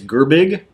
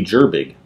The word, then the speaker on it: Gerbig: And William, I would say it's Gerbig, G-E-R-B-I-G, would it be Gerbig? I think it's a hard G.